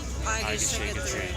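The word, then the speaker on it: egészségedre: And the way that he taught us is to remember the phrase, I can shake a tree. And say it like you're drunk. Like a drunk Irish sailor apparently. So it's like, I can shake a tree.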